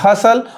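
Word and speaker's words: hustle: तो देखिए आखिर टी साइलेंट यहां पे क्यों होता है, तो जब भी एस के बाद एस के बाद जब भी TLE आएगा तो वहां पे T साइलेंट होता है।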